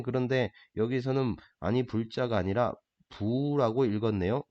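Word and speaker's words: 不: 뒤에 나오는 한자가 디귿이나 지읒으로 발음하는 한자 앞에 올 경우, 그럴 때는 부라고 읽어준다.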